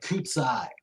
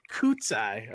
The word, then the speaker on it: Kucaj: the last name Jimmy it's a csai ksai okay not anything like